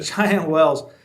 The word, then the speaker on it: Cheyenne Wells: Cheyenne Wells, if I can say it right. Yeah. Cheyenne Wells.